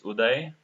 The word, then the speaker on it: Udai: know my my name generally they pronounce it in a wrong way it's udai okay I work in